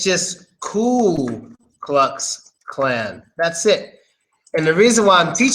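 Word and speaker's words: Ku: like God damn it it's not clue damn it it's just cool cool just cool you know so it's a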